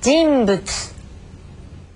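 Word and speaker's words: じんぶつ: 자, 이번에는 두 입술이 만납니다. 그래서 우리 말에 미음처럼 들리는 경우입니다. 들어보세요. 진부츠.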